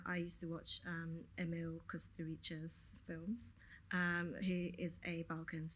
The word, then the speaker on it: Kusturica: So I might not get the pronunciation. Is it Emil Kusturica?